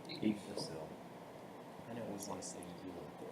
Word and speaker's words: Yggdrasil: Yggdrasil. Yggdrasil.